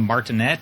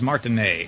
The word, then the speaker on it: Martinet: you say his name I've been calling him martinet but he says when you start up the game i'm charles martin a and you're not anyway this is runner 3